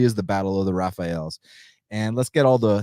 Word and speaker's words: Rafael: so just say oh no i know dos anos is brazilian but his first name is actually pronounced raphael not rafael so and interestingly enough rani yaya it's not